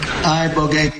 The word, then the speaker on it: ibogaine: Is that pronounced relatively properly would you say? Yes. I don't want to get it wrong. Ibogaine.